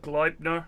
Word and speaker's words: Gleipnir: Almost rhymes with Viper. Viper, Gleipnir.